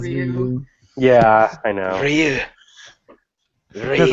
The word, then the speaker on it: Ryu: Say Ryu instead of Ryu.